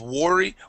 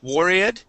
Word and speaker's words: worried: this is um worried so were worried instead of worry worried okay worried yeah worried